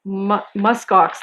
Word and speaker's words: muskox: Muskox. There's an S in there, right?